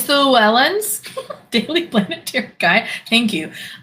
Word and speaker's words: Llewellyn: Oh, it's Welsh. No wonder I don't know how to pronounce it. It's Llewellyn. Llewellyn? Is that right? It's backwards, I know. Is it Llewellyn?